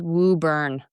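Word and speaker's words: Woburn: I do have to step in manage for our friends in the Boston area that it's pronounced woo burn.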